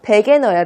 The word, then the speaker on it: Wegener: 베게너예요, 베게너. 그러니까 독일에서 W 발음을 V 발음으로 해서 이게 영어로만 딱 되어 있을 때는 저도 순간적으로 이게 영문 발음인 줄 알고 영어같이 발음을 했는데 베게너입니다.